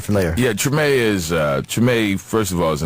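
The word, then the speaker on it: Treme: It's, how you pronounce it? Tremaine? Tremaine.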